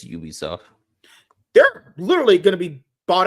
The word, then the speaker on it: Ubisoft: Creed yeah a little do you pronounce it Ubisoft or Ubisoft it's Ubisoft they're literally gonna be